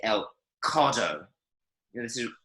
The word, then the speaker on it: codo: Codo. Codo. Codo. Codo. So it's very, very soft sounding. You almost don't hear the D at all.